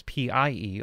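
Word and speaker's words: Pye: And the way they spell it here is P-I-E, although the original is P-Y-E, which was the original name of the company, Pi, that created it in the 1960s.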